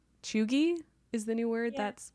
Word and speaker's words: cheugy: something but i'm pretty sure it's spelt c-h-e-u-g-y pronounced chugi and honestly it's really fun to say but